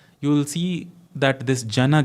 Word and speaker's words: Jana: The na in Jana and na in Gana are distinctly different.